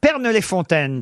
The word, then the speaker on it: Pernes-les-Fontaines: grosses têtes pour le Vaucluse nous attend Aurélia Pernes-les-Fontaines très exactement est-ce que je prononce bien le nom de votre village Aurélia